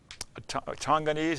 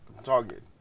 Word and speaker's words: Tongan: Of course, you were so small when you were there, but can you make some comparisons to Tonganese? Is that how you say it? No, Tongan.